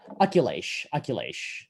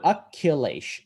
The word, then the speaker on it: Akilesh: Oh, my family says I mispronounce my name. So, Akilesh. 3 syllables. Yeah, Akilesh.